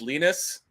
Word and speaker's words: Linus: remembers how to say it's Linus it rhymes with penis European pronunciation of